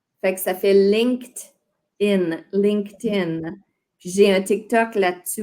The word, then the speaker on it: LinkedIn: LinkedIn. Oui, attends, prononce-le encore, s'il te plaît. LinkedIn. LinkedIn. Puis là, moi, je sais que le ED, après un K, fait le son T. Fait que ça fait LinkedIn.